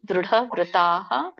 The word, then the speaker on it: ದೃಢವ್ರತಾಃ: ಡ ದೊಡ್ದಿದೆ, ದಕ್ಕೆ ಒಟ್ಟು ಸುಳಿದೆ. ದೃಢವ್ರತಾಃ.